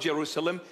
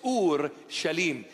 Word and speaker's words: Jerusalem: meanings it is shalim this is the proper pronunciation of the word it's not Jerusalem it's Ur shalim it's a compounded word two in one Ur